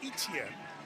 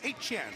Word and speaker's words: Etienne: Travis Etienne, which has been pronounced when his brother's been around, as Etienne. Trevor is the one who plays for Carolina. So it's Etienne.